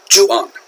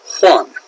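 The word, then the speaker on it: Juan: how that's pronounced either in Spanish the J sounds like an H so this is actually pronounced one so again one and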